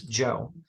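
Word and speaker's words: Zhou: but in the newer opinion transliteration system is Joe z h o u now the pinion system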